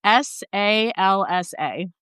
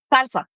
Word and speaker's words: salsa: to say the word SALSA. Salsa. Okay, so I think it's salsa, right? Just with an American accent. My dad says salsa, like with a Z. Salsa. What is a salsa?